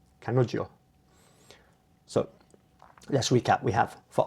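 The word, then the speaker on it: 彼女: And I think my tutor told me that the J is pronounced like a J and a Y, so it's kanojo, kanojo.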